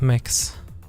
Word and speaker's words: Mixxx: That's Mix. MIXXX.